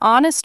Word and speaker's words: honest: An honest man O sound because H is silent.